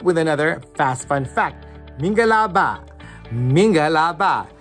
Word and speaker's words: mingalaba: Minga la ba, minga la ba. Say it with me, minga la and ba.